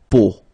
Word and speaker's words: peau: But then, so the sound that you will have to pronounce when you've got these three vowels combined together, it's the sound O.